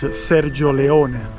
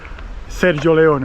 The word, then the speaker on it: Sergio Leone: The right pronunciation is Sergio Leone but I say it in the English uh you know, in the English way. Sergio Leone, okay?